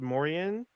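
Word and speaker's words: Moriaen: spell the name name it's m-o-r-i-a-e-n i believe it's pronounced mauryan this is about a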